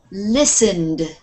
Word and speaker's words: listen: let's try this one listened listen listen listen listen don't pronounce the T listen listen good watched watch